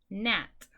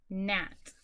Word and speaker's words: gnat: Gnat. Gnat.